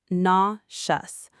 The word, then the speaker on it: nauseous: Next, nauseous. Pronounced nauseous. A lot of learners want to pronounce every letter, but the e and u combine into one soft sound.